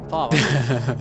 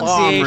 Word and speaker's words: Palmer: Oh, Palmer. Pronunciation. Palmer now. Farmer. Palmer the farmer.